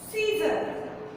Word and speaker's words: scissors: Scissor. Scissors. Now, in this word, first S is silent. Scissor. Because we only pronounce scissors.